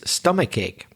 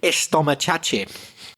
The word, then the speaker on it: stomachache: I love it when people say estomachache. I love that. I so love that mispronunciation. So when a Spanish teacher, first of all, they put the eh. So Spanish people don't say stop when they mispronounce. They say stop. So they say ch instead of ka.